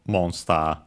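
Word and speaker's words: モンスター: case it's as expected, accented on the mo, on the first syllable, monster.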